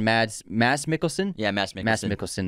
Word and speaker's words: Mads Mikkelsen: Mads Mikkelsen, that's how you say it.